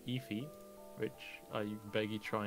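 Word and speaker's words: Aoife: And you say it is in Efi. If. Okay, Yeah, and it's spelled Aofi.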